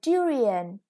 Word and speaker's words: durian: new ones this is a durian yeah a kind of fruit that's really delicious the stress is on the first syllable next pork and here